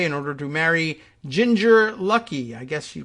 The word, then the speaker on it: Luckey: Republican Florida Congressman Matt Gaetz eloped to Southern California on Saturday in order to marry Ginger Luckey. I guess she pronounces it Lucky.